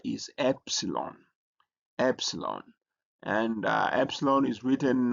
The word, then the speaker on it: epsilon: And then we have the next letter is epsilon. Epsilon. And epsilon is written. It looks like E but not really E but it has a E sound like E in Matt and is transliterated as E.